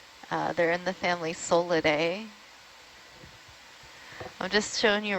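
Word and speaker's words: Psolidae: of solid C cucumbers solid solid p s o l i d a e I would have never expected the P yeah the silent p oh there's a big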